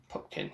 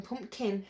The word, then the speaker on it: Pupkin: I wanted to call him Pumpkin initially. That's what I thought it was, Rupert Pumpkin. I've never heard of Pupkin.